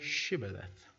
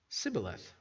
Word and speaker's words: Shibboleth: If he said no, then they would say to him, then say Shibboleth. And he would say, Sibboleth, for he could not pronounce it right.